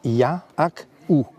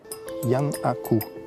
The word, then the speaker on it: Giannakou: Par exemple, la grecque, Madame Giannakou, ça se prononce Ya-ak-ou. Yannakou, en grec.